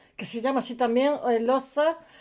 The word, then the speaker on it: Hohenlohe: Estaba leyendo sobre los Oelose, se escribe Hohenlohe. Era pues el antiguo Kaiser, etcétera, la familia, una familia antiquísima que proviene de Suabia, de un castillo que se llama así también, Oelosa, y hay gente que